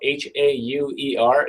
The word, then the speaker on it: Hauer: Hauer is spelled Hauer. It's like Eddie Bauer with a H instead of a B.